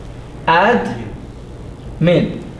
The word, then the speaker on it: admin: Ad, min. Why did I divide it there? Because the D doesn't have what? A vowel. So the rule says any letter that does not have a vowel must be pronounced with the previous syllable.